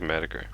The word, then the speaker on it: Metaker: I think it's pronounced like Metaker. It's like Met and Attacker combined.